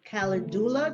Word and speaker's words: calendula: So chamomile and calendula, did I say it right?